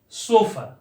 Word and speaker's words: chauffeur: सोफर।